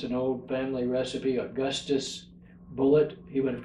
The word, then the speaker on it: Bulleit: my great-grandfather John Joseph anglicized the name to Bullet without changing the spelling so now we both